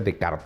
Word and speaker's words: Descartes: René decart mal pronunció Descartes se escribe Descartes pero se pronuncia decart porque francés escribe en su famoso